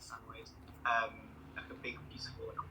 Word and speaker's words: Samoyed: He was a Samoyed dog or Samoid. Samoyed, however you pronounce it. I pronounce it Samoid.